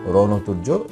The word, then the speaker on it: রণতুর্য: একইভাবে রণতুর্য, মধ্য নয়ের সাথে অ আছে, অটা ও এর মতো উচ্চারণ হয়েছে। মধ্য উচ্চারণের নিয়ম 5।